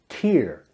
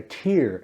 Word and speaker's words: tear: a r first up we have the word tear pronounced tear it means a drop of water from your eye example she had a tear in her eye after watching the sad movie